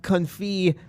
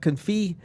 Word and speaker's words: confit: Of the refreshment port, we have the duck confit poutine. Over at, did I pronounce that right? Yeah, that's right. All right, good. It's a silent T, right?